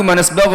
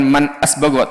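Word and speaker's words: مَنْ أَسْبَغَ: Nah, Ahmadu manasbagha lil insani min fadlihi tilawatal Qur'ani. Aku memuji zat, ini bukan man asbagha tapi manasbagha, dinakal bacanya.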